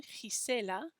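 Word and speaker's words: Gisela: one with two g's first one is next to an i so it's a soft g sound but the second g is next to an a so it's a hard g sound means the sunflower is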